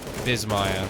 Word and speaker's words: Bissmire: Bissmire. So B-I-S-S-M-I-R-E. But people pronounce it Bissmire. So I changed it to Z, so everybody would pronounce it correctly.